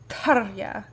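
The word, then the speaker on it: Tarja: metal because tarya sorry her actual her name is pronounced tarya but i can't like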